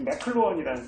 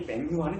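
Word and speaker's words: McLuhan: 명료하게 보여주는 사람이 이렇게 맥클루헌이라는 사람입니다. 맥루한이라고 보통 예전에 번역되던 사람이죠. 이 발음이 맥루한은 좀 진짜 일본 사람들이 한 거라고 보고서 그냥 한 거 아닌가 싶은데 맥클루헌이 아마 맞는 것 같은데 발음이.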